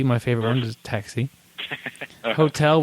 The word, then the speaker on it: hotel: Hotel. We're dropping the H. Um hotel.